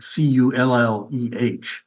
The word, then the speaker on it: Colle: And everybody in America calls Edgard Colle Colle, which is not really either. It's more like Colle, like Culleh.